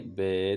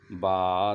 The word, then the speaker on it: با: لہجے میں ادا کریں۔ اردو تلفظ سے پرہیز کریں، یعنی بے، تے، سے، ہے، خے، توئے، زوئے وغیرہ ہرگز نہ پڑھیں، بلکہ با، تا، ثا، حا، خا، طا، ظا پڑھیں۔ اسٹیپ نمبر تیسرا، ان